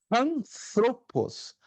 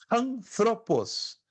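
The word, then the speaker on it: ἄνθρωπος: Por exemplo, a palavra que nós lemos aí, anthropos, ser humano, é pronunciada com som de H aspirado no início. Na verdade, eu falei de propósito errado, porque a pronúncia correta seria anthropos. Anthropos.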